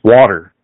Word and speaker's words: water: It's water, just like water. WADDER. So it's not water. We call it water. Lose the T. Water. It's a D. It's a D, not a T.